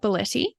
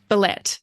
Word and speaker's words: Bellette: So I'm going to begin by introducing our guest, which is Belletti. Did I pronounce that right? I actually meant to check. Bellette. Thank you.